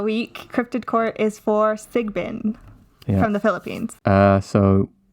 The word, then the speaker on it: Sigbin: you should say it I think it's just sigbin I think all right I'm not the expert on pronouncing things though anybody knows so this uh week crypted Court is for sigbin from the Philippines uh